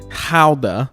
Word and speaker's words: gouda: going with a Dutch gouda cheese whereas the Dutch say it houda which feels like they're just trying to pronounce that word in the most complicated way possible now it's important